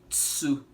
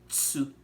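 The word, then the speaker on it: つ: or Spanish, we say tsu, which would be a combination of a chi and a su, so tsu, tsu.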